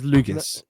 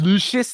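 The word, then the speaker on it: Luguentz: That says Lugans. It's pronounced Lucius. Lucius Dort.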